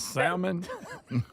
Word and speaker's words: Salmon: Your mother's maiden name was Salmon. No, Salmon with an L.